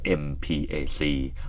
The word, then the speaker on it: MPAC: plan on ASEAN connectivity ย่อ ว่า mpacc ออก เสียง ว่า mpac หรือ m-pack ก็ ได้ นะ ครับ ตรง นี้ นะ ครับ